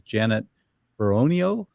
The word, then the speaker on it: Beronio: one here today my special guest today is Janet peronio did I pronounce that right that's right she's with the